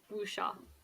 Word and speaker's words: wuxia: Sorry, can you correct my pronunciation of that? Wuxia.